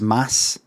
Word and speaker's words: Mads: somebody said mads Michaelson mads is actually pronounced Mass and I said well